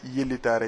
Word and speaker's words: Yeli Tare: été latinisé Yeli Tare, donc pour mieux le prononcer et le faire approprier aux Sénégalais et aux consommateurs. Il s'appelle Yeli Tare.